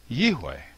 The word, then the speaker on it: יהוה: So, in my opinion, the pronunciation of the name Yode Vave is Yiwi. I should point out why I use the W rather than a V for the letter vav.